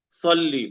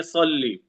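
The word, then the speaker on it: صلّ: गलत हो जाती है यहां पे जैसे लिखा है साद से क्या लिखा है सल्ली सल्ली मोटा करके बोलेंगे सल्ली अल्लाहुम्मा सल्ली मोटा करके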